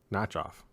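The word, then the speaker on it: Nachoff: N A C H O FF. Notchoff. Okay.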